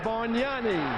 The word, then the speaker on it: Bargnani: Andrea Bargnani. I was right. The G in his name you do not pronounce.